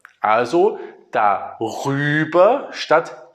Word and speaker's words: darüber: So, and in order to be able to pronounce this better, we say an R in the middle. So darüber instead of daüber or darauf instead of daauf.